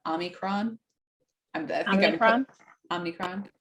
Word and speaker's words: omicron: who have gotten um uh how you say omnicron omicron i'm that i'm from omnicron i'm not sure